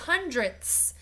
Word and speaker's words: hundredths: have a model of hundredths. Remember, the sound at the end of that word is very important. If you just say tens or hundreds, that's the wrong thing.